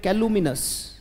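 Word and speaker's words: calumnious: या फिर एक वर्ड आता है बेटा मेरे साथ बोलेंगे, बोले कैलुमिनस, शाबाश, बोले कैलुमिनस, सी ए एल यू, शाबाश,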